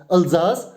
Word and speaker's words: Alsace: So, this is a French word and it is pronounced as Alsace and Lorraine.